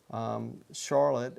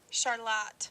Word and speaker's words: Charlotte: And so in North Carolina, we pronounce Charlotte as Charlotte. Well, let's see what we say in Michigan. So I'll go to the app and I'll touch on the Charlotte. Charlotte. Oh, it's Charlotte here in Charlotte.